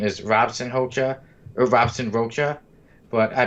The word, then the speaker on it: Robson Rocha: is robson hocha or robson rocha but i pronounce it hobson holcer because he is brazilian and a lot of brazilians speak portuguese and there are to